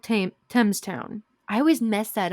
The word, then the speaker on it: Thames: hmm So in the suburbs of Shanghai, there is a place called Thames Town. I always mess that up. It's the Thames, but I want to say Thames because it's the H.